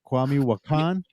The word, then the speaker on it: Kwame Wahkan: what is that how you say it right kwami wakan you pronounced it perfectly right off the bat uh